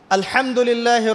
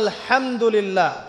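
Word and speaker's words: الحمد لله: আপনি পড়ছেন আল্লাহু আকবার, আলহামদুলিল্লাহি রাব্বিল আলামিন, এই তো আপনি পড়ছেন আলহামদুলিল্লাহ।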